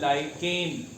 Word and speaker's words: lichen: एक living being होता है, उसका नाम होता है लाइकेन, LICHEN, लाइकेन।